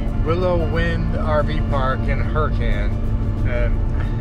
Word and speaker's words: Hurricane: We're all the way out in what's pronounced Hurricane, Utah. It's spelled like hurricane, and I would have called it that if Dawn hadn't informed me that it's actually pronounced Hurricane.